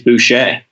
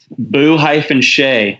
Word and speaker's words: Bouchet: him is accurate because how you pronounce it is Bouchet oh is it huh yeah yep boo - che they say sound sweet